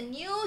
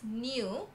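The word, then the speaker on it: nu: going to introduce a new symbol okay it looks like v but we pronounce as new okay so it looks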